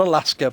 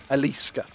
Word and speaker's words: Eliska: means wreath or crown I'm not Alaska but eliska see my first thought